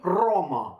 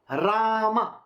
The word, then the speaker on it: Rama: tongue and speak so this Indian fellow is saying roma roma some kind of a very weird way of saying Rama Rama that's it you can pronounce the word properly isn't it why are